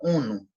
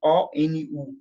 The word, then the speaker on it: ONU: É o caso, por exemplo, da sigla ONU. Veja, eu não pronuncio O-N-U, eu pronuncio como palavra, ONU.